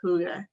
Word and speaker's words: hygge: Hygge, even though it's spelled Hygge, it's pronounced hygge.